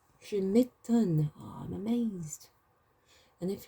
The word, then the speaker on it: je m'étonne: I should clarify that the E has an accent over it, so it's pronounced E. Je m'étonne.